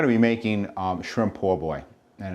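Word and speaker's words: po' boy: be making um shrimp poor boy and it's uh it's spelled p o bo oy but it's poor boy it's based on it's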